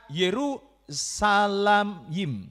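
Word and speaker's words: ירושלים: Dalam bahasa Ibrani, nama kota Yerusalem dipakai kata Yerusalayim, ya Salayim.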